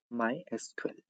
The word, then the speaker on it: MySQL: Its official pronunciation MySQL. Everyone have their own pronunciation system like many of say MySQL, MySQL, MySQL. They have all have different pronunciation that depend on the how person wants to pronounce.